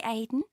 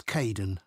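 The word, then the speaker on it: Kaeden: welcome to the team hi Aiden uh it's Kaden I'm so sorry don't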